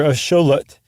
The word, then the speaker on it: axolotl: And by the way also um the Aztecs were called the Mishika and that's that X is a sh e in that case. So the axelottle or a schollet is named after the Aztec god.